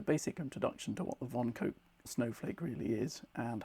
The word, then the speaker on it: von Koch: This is the famous von Koch snowflake, or von Koch, or Koch as it's sometimes pronounced, I believe, but I believe von Koch is the correct pronunciation, so we're going to go with that.